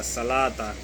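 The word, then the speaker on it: الصلوٰة: खल्ला सलाता तो सलाता, ये वाव लगा हुआ है, इस तरह लिखा जाएगा, लेकिन पढ़ा इस तरह जाएगा सलाता।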